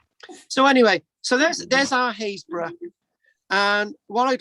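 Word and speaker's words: Happisburgh: I'm going to read this out. Happisburg, Haysborough. It's like Hawick, Hoyk.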